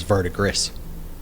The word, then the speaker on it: verdigris: I thought it was verdigris. It's pronounced verdigris.